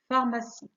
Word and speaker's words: pharmacie: حرفي PH تعطي صوت ف كما في pharmacie.